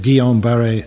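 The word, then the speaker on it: Guillain-Barré: is called guillain-barre syndrome named after two french doctors who discovered the malaise one called guillaum and the other called barry please don't ask me to spell it just now best way to remember it is getting better slowly it was coming up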